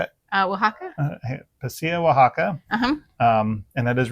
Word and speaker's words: Oaxaca: And I always butcher the name. How do you say it? Oaxaca.